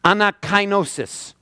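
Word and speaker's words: ἀνακαίνωσις: This word in the Greek is pronounced anakinosis.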